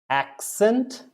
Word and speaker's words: accent: Accent, accent, the one C is K, the other C is S. Accent. One C becomes the K, another C becomes the S.